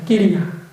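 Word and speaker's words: kiriya: 그 뜻을 발음을 끼리야 합니다. 끼리야.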